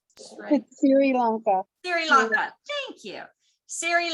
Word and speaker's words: Sri Lanka: How do you pronounce it? It's Sri Lanka.